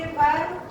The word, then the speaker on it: पर्व: ऐसे ही पर्व, पर्व में भी क्या है, र कहाँ लगेगा, ब के ऊपर, लेकिन उच्चारण करते समय प के बाद र की आवाज आएगी।